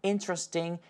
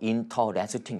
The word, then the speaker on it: interesting: 아시겠지만 인터레스팅이라고 하지 마세요 무려 5음절로 인터레스팅 이렇게 하지 마시고 intrasting 터렛을 같이 한번